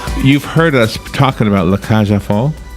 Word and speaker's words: La Cage aux Folles: Foal, you don't pronounce the L's. The L's are just gone.